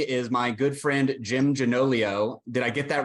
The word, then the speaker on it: Gianoglio: So jumping right in, with me is my good friend, Jim Gianoglio.